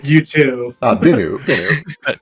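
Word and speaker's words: Bennu: the dude from wake you b or yeah or the guy from you B with two ends one of them is silent how do you spell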